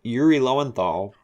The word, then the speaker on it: Yuri Lowenthal: familiar with louis yuri i keep saying his name wrong i'm familiar with yuri lowenthal he wanted to calling him i keep wanting to call him louie for some reason anyway i'm